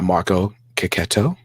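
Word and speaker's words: Marco Checchetto: be written by Jonathan Hickman with art by Marco ketto because that's how you say his name and not chetto even though I always say chetto um John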